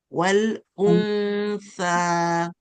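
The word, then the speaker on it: وَالْأُنْثَى: So we get to pronounce the sukun. So we say wal Hamza the ma'u. Wal untha.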